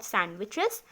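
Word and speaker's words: sandwiches: In winter season we कैन ईट हॉट सैंडविचेस एंड सिप हॉट टी और coffee. ठीक है, सैंडविचेस नहीं बोलेंगे, सैंडविचेस बोलेंगे, यहाँ पर डी साइलेंट होगा।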